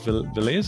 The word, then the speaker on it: Velez: Today, we're talking about reliability insights, and I have with me today Velez. Is that how you pronounce the surname?